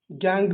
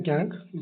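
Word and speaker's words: gangue: गैंग भी इसको pronunciation करते हैं, गैंग, गैंगू भी बोलते हैं।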